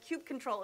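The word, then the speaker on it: kubectl: familiar with and and by the way cute control is the credit correct pronunciation in my opinion we're gonna set it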